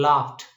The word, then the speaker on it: laughed: Capped and laughed. Here ed is represented by t, not d.